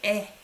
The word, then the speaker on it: 의: For those of you who don't know how to pronounce this is 에. Possessive. You pronounce it as 에.